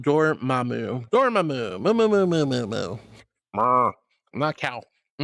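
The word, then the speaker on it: Dormammu: Uh Ryan says, "For do uh Dormu's name, it's pronounced Dormamu."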